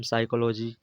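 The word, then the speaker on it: psychology: पी भी silent होता है जब शुरुआत में होता, इसे हम साइकोलॉजी, जैसे हम न्यूमोनिया समझ रहे हैं, तो कुछ ये साइलेंट्स होते हैं।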